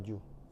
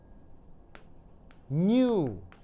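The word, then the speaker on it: ν: V 이렇게 쓰는 거고요 얘는 표기 방법이 요렇게 쓰고 영어가 아니라 그리스어 발음 뉴 뉴 알겠죠 뉴 완전 다릅니다 이건 영어이 그리스어 그래서 hu 이게 무슨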